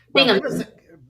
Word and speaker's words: Binghamton: Binghamton. Yeah, for some reason I can't even pronounce it. It's not that hard, but it's 3 syllables.